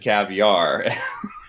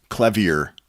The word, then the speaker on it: Clavier: Well, because this is the first time I realized it was called the Well-Tempered Clavier, because I always thought it said caviar. The Well-Tempered caviar.